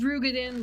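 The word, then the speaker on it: Roegadyn: streaming she's a a rogin it's pronounced rugen but it's rogin whatever uh I will show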